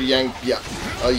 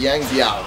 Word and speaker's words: Yang Biao: Go after Yang Biao. Yang Biao. Yeah, I was pronouncing it right the first time.